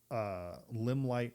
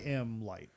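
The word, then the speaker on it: Limlight: What force is the source of the Limelight River?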